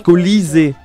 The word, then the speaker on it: Colisée: Ça se prononce colisée.